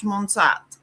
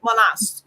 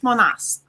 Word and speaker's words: Monast: George Serge Monsat. Mm-hmm. Monast. Sorry, let me pronounce that again. Serge Monast.